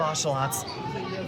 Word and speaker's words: ocelot: They have ocelots. Ocelot alert. And that is the correct pronunciation, by the way. It's not axolotl, it's ocelot.